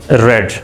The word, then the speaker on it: read: उसको प्रोनाउंस कैसे करना है? रेड रेड।